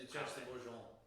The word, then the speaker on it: Duchesse de Bourgogne: It is the Duchess de Bourgogne.